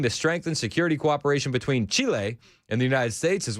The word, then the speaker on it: Chile: Chile. Chile. Chile is how you pronounce it.